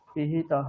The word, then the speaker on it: पिहितः: कोशोऽसि হ্যাঁ, मेधया पिहितः পিহি দীর্ঘ উকার, দীর্ঘ ইকার নেই, হ্রস্ব ইকার, তাহলে পিহিতহ। पिहितः এই যে হিতহ বলছেন, এটা নয়, পিহিতহ। पिहितः হুম श्रुतं मे गोपाय ॐ शान्ति शान्ति शान्तिः हरि ओम।